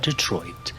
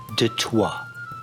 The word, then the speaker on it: Detroit: detroit no no not detroit yes i know what the sign says but it's pronounced de toi detroit is the big